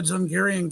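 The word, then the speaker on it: Dzungaria: does every body know the zaryan Gap story you if you don't let me just point out you can Google that it's spelled dzu n g- a r i a an you can Google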